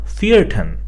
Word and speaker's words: vierten: Similarly, if we have other letters such as second or fourth, then they are also pronounced as zweiten or vierten.